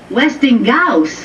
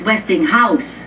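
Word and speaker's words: Westinghouse: where did you get this Weston GA catalog Weston Gus look it's not Westing Gus it's westing house house no they are w Gus Gus how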